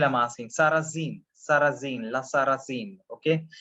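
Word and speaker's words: Sarrasine: Sarrazin, Sarrazin, La Sarrazin, okay? Because Sa and Z, they are interchangeably pronounced, so that's why S/Z, the Sarrazin.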